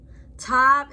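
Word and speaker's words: תו: Tav is pronounced as T, as in tango.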